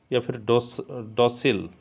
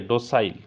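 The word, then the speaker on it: docile: ফিলপট্যান্ট লেসেনশিয়াস অর পিউরেল ডোসিল ওকে ডোসাইল তো correct pronunciation হচ্ছে okay option number C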